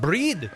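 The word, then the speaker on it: Brigid: She was a priestess of your goddess breed. It's pronounced breed.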